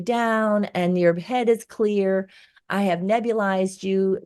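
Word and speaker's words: Xlear: down with X clear which is pronounced clear but you can get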